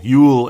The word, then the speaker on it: Joel: I knew it, and I said Joel anyway, because you just see Joel. No, it's Yule Eriksson Ek. It's spelled Joel, and it's the same name, but let's say it the way they say it, I suppose.